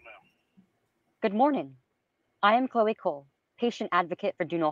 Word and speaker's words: Chloe Cole: Chicole? Chloe? Chloe? Oh. Chloe Cole.